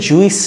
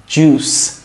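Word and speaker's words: juice: ওকে জুস মানে রস এটা কিন্তু জুইস না জুস জুস জুস জ্যাকেট শীতকালে যেটা আমরা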